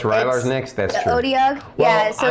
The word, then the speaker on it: Otyugh: It's Odyug. how do you spell it? Otyugh.